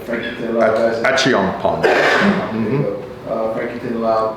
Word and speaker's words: Achiampong: Or you get some international guys too, with Collins, Achiampong, I want to pronounce that right, Frankie Tinilao guys. Achiampong.